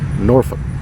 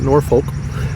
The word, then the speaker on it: Norfolk: a city like that in virginia that everybody mispronounces norfolk not nor folk it's norfolk yes nor and the word you